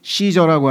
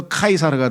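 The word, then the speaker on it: Caesar: 카이사르는 시저라고 하는요 카이사르라고 하는 말은 영어의 시자 철자 있죠? 영어의 시자라고 하는 철자는 영어로 발음하면 시저처럼 s로 발음이 돼요. 그런데 로마어 다 라틴어로 발음할 때는 K로 발음이 돼서 카이사르가 돼요.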